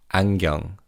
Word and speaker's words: 안경: Now in terms of pronunciation, in fast speech, the ni은 in the first syllable almost sounds like iung. So it sounds like 안경.